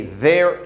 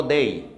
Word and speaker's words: there: Okay, there is. The pronunciation here is there, no they.